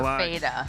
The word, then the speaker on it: Fatta: We kind of just call her Fada. Well, it's spelled Fatta, so there can be some room to work there.